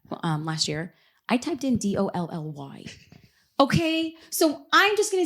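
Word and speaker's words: DALL-E: Yeah, so you're going to want to actually type in DALLE. Who the heck would spell it like that? It's like, leave it to all the smart kids to leave it like that. I mean, we'll just pretend it's Dolly after Dolly Parton, but it's DALLE.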